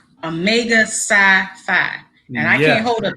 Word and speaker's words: Omega Psi Phi: Omega Psi Psi. Omega Psi Phi.